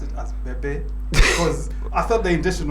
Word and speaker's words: Bebe Cool: It took me quite a while to actually pronounce it as Bebe because I thought the intention was to be called Baby.